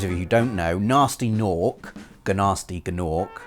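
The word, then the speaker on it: Gnasty Gnorc: Dragon for those of you who don't know nasty NORC ganar sneakin orc silent G and he comes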